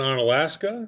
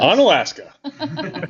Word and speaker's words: Onalaska: Patrick's School in Onalaska. I mean, I didn't know how to pronounce it. I'm glad you said that. Onalaska.